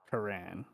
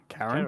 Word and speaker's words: Quran: So it's one of those things like most people think it's Karan, Yeah. which makes me think that maybe that even is the correct pronunciation, but like my family, for at least the generations that I know, all say Karen.